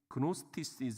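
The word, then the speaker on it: Gnostic: 역사에 보면은 영지주의는게 나와요 이제 노스티 이렇게 얘기를 하는데요 뭐 앞에 쥐자 묵음으로 해 가지고 어 발음하기도 하고요 그런데 이게 뭐냐면 영과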